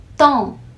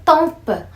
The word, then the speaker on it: temps: a pronúncia da palavra tempo em francês é Tom tá você não pronuncio essa Ok mas eu tenho ouvido de mas as pessoas dizer tampa sabendo que esse dom é um som que